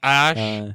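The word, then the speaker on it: Æ: It's pronounced Ash, yeah.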